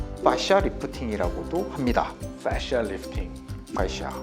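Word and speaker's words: fascia: 패샤 리프팅 파샤 발음이 너무 어려운데 좀 쉬운 발음으로 한다면 빠샤 빠샤 빠샤 빠샤 리프팅 좋습니다.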